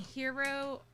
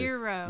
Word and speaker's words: eero: Biff was saying hero or Eero, right? It is. Eero. Yeah, it's like the G is a soft G.